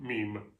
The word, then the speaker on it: meme: By the way, Webster, Miriam Webster does pronounce it meme.